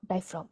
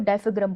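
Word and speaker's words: diaphragm: अभी देगा तुम्हें वो क्वेश्चन जो तुमसे आएगा, डायफ्राम डायफ्राम डायफ्राम। मैं पहले डायफ्राम को डायफ्राग्राम बोलती थी, काफी बेइज्जती के बाद मुझे पता चला है कि प्रोनाउंसिएशन गलत थी।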